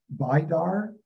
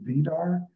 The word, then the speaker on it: Vidar: him to work understanding the archangel, and we pronounce it here, Vidar, and it might be some of you Vidar, and also the mythological god Baldur.